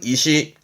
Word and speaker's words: 意思: 계획하고 생각한다는면서 생각할 살자 대표적으로는 의사 발음은 이시 이시 의사 결정의 의사였고이 사자도 오늘 언급한 것만 보시